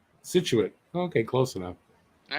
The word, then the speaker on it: Scituate: to turn above it situate oh you're close situated scituate okay close enough all right below it haverhill